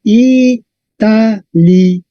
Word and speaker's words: Italia: verdad Entonces tenemos y Ah no es un diptongo en latín Entonces sería Italia miramos la penúltima la penúltima es la vocal es corta Entonces el acento está en a Italia igual que